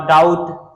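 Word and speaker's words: doubt: यू बी टी बट यहां पर B silent होती है बी को पढ़ा नहीं जाता ठीक है डाउट उसके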